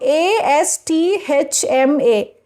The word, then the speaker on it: asthma: Interviewer, and what about a s t h m a?